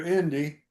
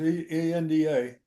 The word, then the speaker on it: Enda: People called her Indy, Indy. but it was ENDA.